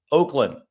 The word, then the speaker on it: Ochlan: Oakland. It's Oakland, so it's a O, not an Ock.